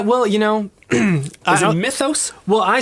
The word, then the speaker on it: Mythos: Is it Mythos? Well, I say Mythos because Okay. I was born and raised in Tennessee. So I think the correct pronunciation would be like Mythos. Really? It's because it's Greek.